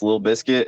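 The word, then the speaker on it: Lil Bisket: Uh, so if you want to find me on Spotify, it's Little Biscuit and it's spelled a little weird.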